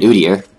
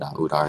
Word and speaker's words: Udyr: Now, if you had Udyr, I heard this one guy complain that Udar is not the right way to pronounce it. But I'm not really, I don't really care much about pronunciation since it's a name.